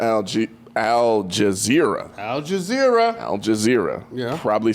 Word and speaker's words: Al Jazeera: and according to algae Al Jazeera Al Jazeera Al Jazeera yeah probably saying that wrong I said it